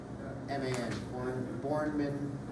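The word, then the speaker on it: Bourneman: Sorry, could you spell it again? Are you saying? B-O-U-R, yeah, like Jason Bourne, the superhero. N-E-M-A-N, Bornman layout.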